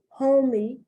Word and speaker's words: homey: This is homey and this is honey, because the O in homey is long and the O in honey is short.